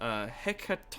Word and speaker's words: Hecate: Oh looked it up it's Greek you were very close it's pronounced Hecate on carries where that's weird